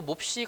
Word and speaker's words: 몹시: 마찬가지로 몹시 같은 경우에도 몹시라고 발음을 합니다. 왜 이렇게 발음을 하죠? 이 앞에 있는 기역, 비읍, 받침 때문이잖아요.